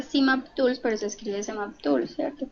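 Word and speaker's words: CmapTools: en semap Tools Bueno realmente se pronuncia simap Tools pero se escribe Tools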